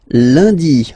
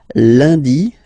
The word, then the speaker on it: lundi: And in France, the week starts with lundi, Monday, lundi, lundi. Okay, remember, UN is pronounced like un, lundi, lundi, lundi.